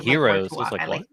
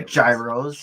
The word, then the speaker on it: gyros: head already like said hero I like or Gyros you can different way to pronounce it oh he don't even